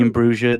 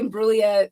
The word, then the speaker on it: Imbruglia: are you as torn as me and Natalie Imbruglia now that the Raiders are good now? Oh, it's the most Natalie Imbruglia every time I watch the game. How do you say her name? Is it Natalie Imbruglia?